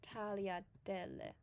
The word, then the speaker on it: tagliatelle: Very simple, just acting like the G doesn't exist. And this specific type of pasta in the fourth, in the picture below to the right, would be tagliatelle.